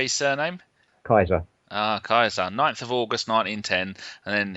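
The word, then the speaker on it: Keizer: how do you say his surname Kaiser ah Kaiser 9th of August 1910 and then he had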